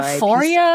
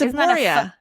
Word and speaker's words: Aporia: It's P. Isn't it a PH? No, it's Aporia.